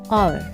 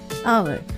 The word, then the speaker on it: hour: H is silent. Honest, o, which is a vowel, so we use n. Next is hour. We never say hour, no, never. We never say hour, we say hour, which is an vowel.